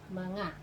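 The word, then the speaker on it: mga: the plural marker okay this one is ma ah that's how to pronounce it okay manga so siblings we say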